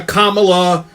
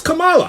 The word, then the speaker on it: Kamala: They're calling her Kamala. Half of them times it's Kamala.